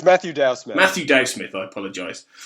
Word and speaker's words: Matthew Dow Smith: it's it is um Matthew do Smith have I pronounced your name right there yeah it's Matthew Dow Smith Matthew Dow Smith I